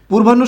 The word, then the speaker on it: পূর্বাহ্ন: পূর্বাহ্ন শব্দটা যে আছে, এটার উচ্চারণটা হবে পয় দীর্ঘকার, কারণ হচ্ছে আমরা জানি উচ্চারণের সময় এটা কি হয়ে যাবে? আপনার দীর্ঘকার থাকলে হ্রস্বকার হয়ে যাবে। আর রেফ আছে, রেফটা হয়ে যাবে র হসন্ত, পুর ব আকার, ন পরে আছে চলে আসবে আগে, মূর্ধন্য আছে হয়ে যাবে দন্তন্য, হকার হো। এই হচ্ছে এটার সঠিক উচ্চারণ, পূর্বাহ্ন।